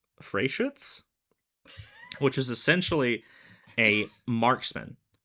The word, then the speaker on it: Freischütz: It's Freischütz with an umlaut TZ. Oh, Freischütz.